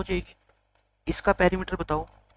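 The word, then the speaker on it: perimeter: लिखो आप difference in पेरीमीटर्स, difference in पेरीमीटर्स। 25 के कई पैरामीटर बोलते हैं, पैरा नहीं है, स्पेलिंग से देख लो, पैरी है ना।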